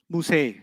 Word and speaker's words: Musa: Musa will always be non-flexible. Musay. You haven't heard Musi, you've heard Musay. That's a qira'ah difference. It's a pronunciation difference, not a grammar difference. Yeah. So in some qira'at of the Quran, you hear Musay, right, instead of Musa.